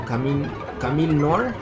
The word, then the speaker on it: Camille Noire: fuera el sexto personaje se llama Camil Noa o bueno pues también los gringos la llaman camino nor como sería su pronunciación en inglés pero lo que vemos